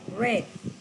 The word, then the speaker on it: read: pronuncia como en pasado como si fuera el color rojo red se escriben igual en